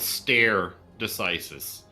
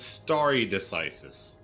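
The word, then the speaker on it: stare decisis: for pausing so quick it's not called stair decisis it's starry decisis and correct me if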